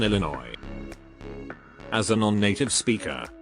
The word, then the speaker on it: Illinois: She also pronounced the S in Illinois.